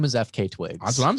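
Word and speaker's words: FKA twigs: FK Twigs. Like an initial. That's how they say it. Like I even looked up the Fuck Twigs.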